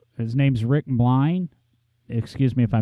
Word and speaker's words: Milne: Well, John, to put the record straight, my last name is pronounced Milne with a silent E. Think A.A. Milne, Winnie the Pooh.